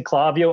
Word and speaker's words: Klaviyo: So I just pronounce it as it is in Spanish. So, but then I talked with Klaviyo and I watched some of their videos, and I'm like, oh, it is Klaviyo.